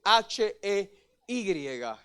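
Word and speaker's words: ה: es la letra G, H-E-Y. Y esta letra, para los hebreos, ellos no la pronuncian, ellos la suspiran. Para ellos es el hey. Para nosotros en el occidental es la letra H.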